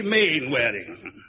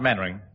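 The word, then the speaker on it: Mainwaring: You must be manwearing. Oh, how do you do, Colonel? Actually, it's pronounced mannering. Then why the hell do you spell it manewearing?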